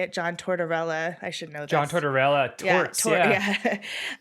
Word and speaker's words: Tortorella: all he's gonna say uh the coach John chardarella is that how you say it John Tortorella I should know John Tortorella uh he well